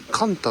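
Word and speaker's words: 甘太: このね、甘い太いって書いてカンタって読むみたいなん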